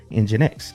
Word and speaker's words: NGINX: So, we can go down there and install Engine X. And the command to do that is simply pseudo apps install NX. And it's spelled NG I NX.